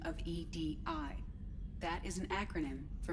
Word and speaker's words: EDI: me the airlock is ajar is the phonetic pronunciation of edi that is an acronym for enhanced defense intelligence